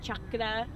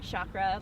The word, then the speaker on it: chakra: energy i have a chakra handbook it's actually pronounced chakra okay not chakra like the americanized way yeah i know do